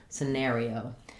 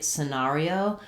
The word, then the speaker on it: scenario: reduced vowel in that first syllable. And then letters AR say the air diphthong, and letter I says E, letter O says O, scenario. This is probably the most common way you'll hear this pronounced in US English, but in the US we also do say scenario. This is more typical of British English.